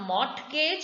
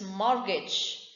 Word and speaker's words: mortgage: so knock now me silent t listen mortgage it is not mortgage it is mortgage watch silent h words